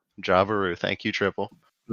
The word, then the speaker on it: Jaburu: Jabaru. Jabaru, thank you, Triple. I'm not gonna On try your tribe, pronouncing you that.